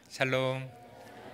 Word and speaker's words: 샬롬: 죽을 놈 살롬 하면 안 되고 샬롬이라고 인사 한번 하셨으면 좋겠습니다. 샬롬.